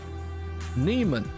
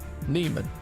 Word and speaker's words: Neiman: hey guys this listen last name is pronounced Neiman okay so Nolan Neiman gotcha awesome yeah our name yeah Neiman Neiman like Annie and a man but you're right Tim